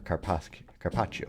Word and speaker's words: carpaccio: Now, in terms of items keeping track of, just like last time, we have the Tangy Carpaccio, or Carpaccio, I think is actually how it's said.